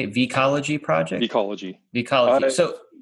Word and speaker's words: Vecology: Vecology.